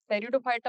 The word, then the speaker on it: टेरिडोफाइटा: टेरिडोफाइटा में P silent होता है, टेरिडोफाइटा।